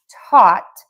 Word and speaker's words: taught: So for taught, we start by touching the back of the top front teeth for that taught. And we end there with the t.